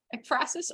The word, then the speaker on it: ekphrasis: talk are, what is ekphrasis or ekphrasis? I haven't actually decided how to pronounce it. If anyone has any input, please provide. Ekphrasis, thank you. Depends if you're British or American.